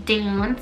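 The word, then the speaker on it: Doon: I now have the name Dune, spelled D-O-O-N. And Dune is Latin and means adored. Love Dune. I think this name's so pretty. Sounds like moon.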